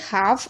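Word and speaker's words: half: ठीक है, इसी तरीके से एल के बाद एफ आ रहा है, यानी एफ से पहले एल है तो एल साइलेंट है। हाफ, आपने देखा भी होगा,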